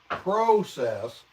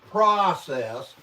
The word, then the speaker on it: process: the jib the word process is said process not process there's no a in it that is a western English a sound brother Chris not process